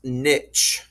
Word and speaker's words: niche: All right, the next word is pronounced niche right there.